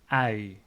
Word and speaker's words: ui: That is pronounced as ui. And I know for many non-native speakers that this is a challenging sound to say ui.